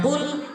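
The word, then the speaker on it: قُلْ: Jadi jangan baca qulhuallah. Kalau dibaca ee dibaca kaf itu berarti maknanya makan. Makanlah kalimat fil amar. Kalau ee dibacanya qul itu berarti katakanlah.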